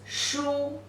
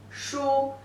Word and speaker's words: 书: 横折横折钩竖点儿 The pronunciation is shu, shu.